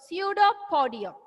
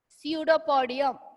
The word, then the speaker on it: pseudopodium: This is a new biological word, pseudopodium. How do we pronounce the word? Pseudopodium. Pseudopodium. Yeah. P is silent. It's starting with the P, but it is silent.